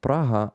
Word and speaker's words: Praha: um fingers crossed guys we call it praha I'm not sure that I I'm pronouncing praha uh correctly in English but frog I don't know I've never heard how people pronounced pronounce praha in English uh thank you for